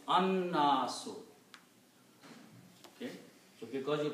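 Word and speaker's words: النَّاسُ: You don't pronounce lam, so there is no harkat on lam. Noon should be pronounced twice, so there is a shadda on that.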